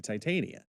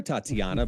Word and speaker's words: Titania: thing as zero into Titania yeah which I'm very proud that you pronounced it right this time but I like the color over here yeah the Dan cave yeah you can call her Tatiana but that's not her damn name no one knows who